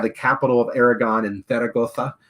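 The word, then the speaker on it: Zaragoza: capital of aragon and theragota right that's right close to the town of theragosa and you gotta say it like that uh a little place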